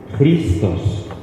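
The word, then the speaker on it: Χριστός: Si se pronuncia, no se pronuncia X, se pronuncia J. Y esto es una R, Christos.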